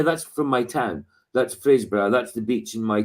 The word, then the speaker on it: Fraserburgh: It's Fraserburgh. I can't do the roll. Fraser. Sorry. Yeah, Fraser. Just the name, like the name Fraser. It's not Z, it's an S, but just exactly pronounced the same way.